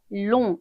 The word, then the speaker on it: long: 남성형은요 long, 제 발음이 살아나지 않아요.